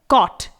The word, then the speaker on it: caught: Next है कॉट, CAUGHT। यहां पर GH को हम साइलेंट रख रहे हैं, प्रोनाउंस नहीं कर रहे हैं।